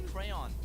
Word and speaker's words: crayon: I say crayon. As an adult, I say crayon. But like growing up, I said crown.